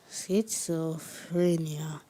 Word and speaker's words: schizophrenia: a language of origin Greek see so frenia schizophrenia am I pronouncing the word correctly that's fine schizophrenia schizophrenia